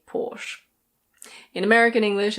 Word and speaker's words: Porsche: In German this is pronounced Porsche. Porsche. In British English it's Porsche. Porsche. There are some people who say Porsche, but normally it's people who know a lot about cars.